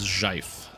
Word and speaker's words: GIF: The correct pronunciation is Jif.